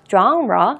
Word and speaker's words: genre: A music genre, 이거를 genre라고 읽습니다. 왜냐하면 이건 불어예요. genre 이렇게 읽습니다.